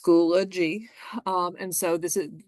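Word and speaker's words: Schoology: class that's going to be held so it's pronounced schoolo G um and so this is this is where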